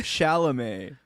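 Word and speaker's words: Chalamet: Wait, how do you pronounce his name? Shalamé. Shalame. Shalam.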